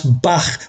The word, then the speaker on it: bach: Beneath it is a glyph for he, which reminds us to pronounce bach with the aspirated ch at the end.